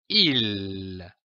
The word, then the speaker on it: île: Il se prononce comme un I long, comme par exemple une île, un dîner, un gîte.